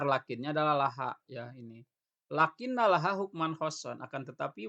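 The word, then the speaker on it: لكنّ: Nah, ingat kajian lakinna yang kemarin, karena ini hukman khosson di fathah, berarti ini cara bacanya lakinna, bukan lakin ya.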